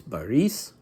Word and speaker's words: Boris: Boris, the Russian pronunciation is Boris, and Andrei Vladimirovich, Grand Dukes Boris and Andrei Vladimirovich.